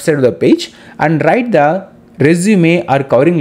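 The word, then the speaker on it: résumé: Now let us go to understand what is this resume or covering. CV means curriculum vitae. See, R-E-S-U-M-E is pronounced as resume, restart, or resume.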